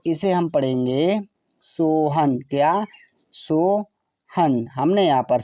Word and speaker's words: सोहन: यहाँ पर है SOHAN, तो इसे हम पढ़ेंगे सोहन। क्या? सोहन। हमने यहाँ पर सोहन लिख दिया। एस से सा, ओ से ओ की मात्रा, H से ह, ए साइलेंट रहेगा, एन का मतलब ना हुआ सोहन।